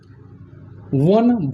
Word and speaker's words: one: वन vowel है परंतु इसका उच्चारण करते समय यहाँ व अर्थात व्यंजन ध्वनि आ रहा है इसलिए इसके पहले ए का प्रयोग करेंगे। यूरोपियन में यह है इसलिए ए का प्रयोग करेंगे।